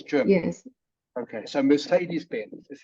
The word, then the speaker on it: Mercedes-Benz: Okay, so Mercedes-Benz is how it's pronounced.